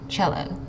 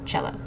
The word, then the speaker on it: cello: this uh it's actually cello it makes a CH sound I know it's a